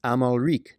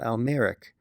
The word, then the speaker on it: Amalric: So who was Amalric Walter? Well, the first point I'd like to make is the man's name is Amalric, not Almeric.